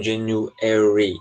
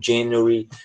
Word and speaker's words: January: Já no inglês europeu, no inglês britânico, eles tendem a colocar ênfase na sílaba anterior a esse ary. Então, é por isso que eles falam January, February, tá certo? É questão de ênfase mesmo, tá bom?